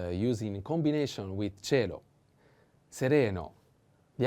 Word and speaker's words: sereno: cello sereno and sereno i have to put the accent on the second e sereno sereno means clear serene so